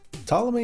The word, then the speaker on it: Ptolemy: Ptolemy and Pterodactyl might be the only words or names I know that start with a silent P.